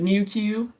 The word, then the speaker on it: NuQ: yeah this nuq but we pronounce it newq new kind of like meww like the Pokemon but New Q um but so yes